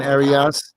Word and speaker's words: Arias: Okay, so my next two guests are Kirsten Arias. Did I pronounce that right? Yes.